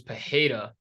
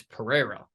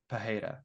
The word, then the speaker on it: Pereira: I think it's because I've always thought it was pajeda but then John annik told me that it's Pereira yes but there's still some of them that pronounce it pajeda yeah I know but